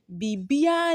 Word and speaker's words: Biribiara: The second example says Biribiara. That's how you will write it. So it says Biribiara ni danumu. Biribiara ni danumu. But when you are mentioning it or pronouncing it, you say Bibia ni danumu.